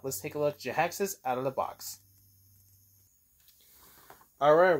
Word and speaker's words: Jhiaxus: It's Jhiaxus. Jhiaxus. Jhiaxus. Not Jackson. Jhiaxus.